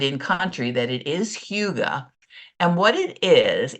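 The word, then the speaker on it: hygge: they have that whole now it's spelled Hy G G have you seen that word oh Huga that good woman that is how they pronounce it I'm I know that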